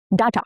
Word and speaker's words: data: they don't always match data. Now pay attention, be careful, both these pronunciations are accurate. Both are correct, but data is more common in American English and data is heard in British or Indian English.